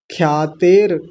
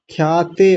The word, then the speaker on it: ख्यातेर: पुरुष ख्यातेर ख्यातेर ख्याते ऐसा नहीं ख्यातेर र आधा है ख्यातेर गुण गुण नहीं